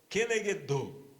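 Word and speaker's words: כנגדו: Que se escrevem juntas e vai ser pronunciada como kenegedô, que é como ele mesmo, ou correspondente a ele mesmo.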